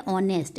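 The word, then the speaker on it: honest: dash ऑनेस्ट police officer देखिए एच तो वल नहीं है बट इसकी साउंड क्या आ रही है ऑनेस्ट एच इसमें साइलेंट है तो इसलिए क्या आएगा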